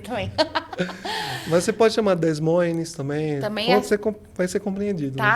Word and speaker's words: Des Moines: É Des Moines. Des Moines. É muito chique, gente. Ainda preciso aprender. Não aprendi nem o espanhol, ainda preciso aprender francês também. Mas você pode chamar Des Moines também.